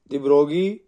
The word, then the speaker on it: de Broglie: behaviour of matter रोगी इसका जो उच्चारण है प्रशन बगी बोलते हैं द बगी 1924 इन्होंने 1924 में